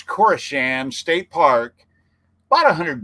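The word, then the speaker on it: Koreshan: uh brad and diana told us how to pronounce it right the it's it's not corsan it's kaurashan i believe it's core shams state park about a hundred miles yeah we're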